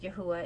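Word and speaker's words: YHWH: yahuwah they'll have a capital Y HWH pronounced yahuwah and you could also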